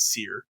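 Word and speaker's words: Cyr: think you pronounce it, I've always said Sear, which is spelled C-Y-R.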